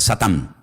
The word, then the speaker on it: Satán: En hebreo no se dice Satanás, se dice Satán y significa adversario.